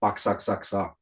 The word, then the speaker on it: Boxxa: Just as you speak it, because I mean it's Lovecraft, so you can make out of it whatever you want. We just say Boxxa, like you You want you spell want it.